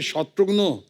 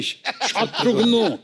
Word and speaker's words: शत्रुघ्न: भिन्न-भिन्न प्रांत के लोग आज तक मेरा नाम किस तरह भिन्न-भिन्न तरीके से उच्चारण करते हैं। मिसाल के तौर पे मेरे बंगाली फ्रेंड अभी तक मुझे कहते हैं कि अरे शत्रुग्नो कैमोनाशी शत्रुग्नो डॉक्टर नो का भाई बना दिया है।